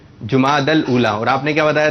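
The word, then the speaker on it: جمادی الاولیٰ: جماد ال جیم پر پیش ہے جماد الاولا.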